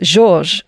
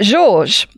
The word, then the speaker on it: Georges: called george de mestral i guess that's that's probably should be pronounced georges georges de mestral was